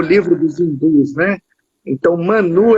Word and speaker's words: Mãnu: Não é mano, é Manu. É porque tem trema em cima do U.